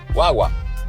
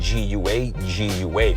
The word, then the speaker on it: guagua: But here it's written G-U-A, G-U-A, una guagua, guaguita. So you have to work on pronouncing that word as a whole. Voy a coger una guagua. Esa es una guaguita, not guagua, because that just sounds like how gringos say it, right?